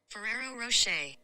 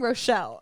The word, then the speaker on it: Ferrero Rocher: Ferrero Rocher. Ferrero Rocher. Isn't that what I said? No, you're saying Rochelle. I said Rocher and you... No, you're right. You're right. Never mind. I was saying Rochelle.